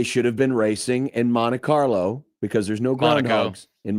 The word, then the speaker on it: Monte Carlo: I like how you just skipped the T there completely on Monte Carlo. Monte Carlo. Yeah, who cares? Interesting to hear Matt tell someone how to pronounce the T. It's Monte Carlo.